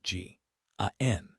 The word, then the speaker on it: Gan: And in every one of those letters, without exception, that place is spelled G, A N. Gand Gan as the army said it and as every soldier in the north spelt it for 4 years.